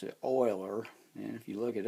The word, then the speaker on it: Euler: column a math teacher I had in college pronounced it Oiler and if you look it up they'll tell